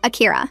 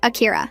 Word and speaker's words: Akira: Say Akira." "Akira." "No, you need to soften the R, like this. Akira."